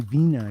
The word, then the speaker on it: Wiener: It's my Vina. Vina, not Wiener. It's my Vina.